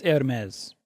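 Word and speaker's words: Hermès: of uh Hermes yeah it's Hermes Hermes there you go that's it Hermes very good why' you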